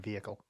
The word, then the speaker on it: vehicle: we don't use we we don't pronounce the h in vehicle vehicle and I'm not